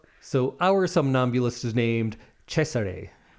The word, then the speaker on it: Cesare: I used to always think Caesar, Caesar, or Cesare, but I believe the Germans said Cesare. That makes sense. I've heard that before. Oh. Cesare.